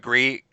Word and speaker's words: Gris: pronounced Bree. Yeah, I know. think Jeff The Keighley, whatever he said. developers call it Gree.